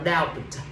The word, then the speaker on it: doubt: Sign là D, không đọc là doubt. Chỉ đọc là doubt thôi, bởi vì bờ bị cắp.